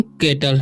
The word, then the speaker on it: cattle: अब यहाँ पर लिखा हुआ है CATTLE, तो इसे पढ़ते हैं हम केटल, क्या पढ़ते हैं?